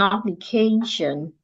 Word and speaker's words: application: You stress the syllable before the T-I-O-N. So we're saying K louder, longer, clearer. An application, well, all arranged, not we're all arranged.